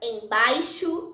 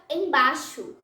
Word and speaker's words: embaixo: O ditongo AI, quando aparece antes da letra X, pode ser pronunciado como A. Por exemplo, faixa, embaixo, dizemos faixa, embaixo.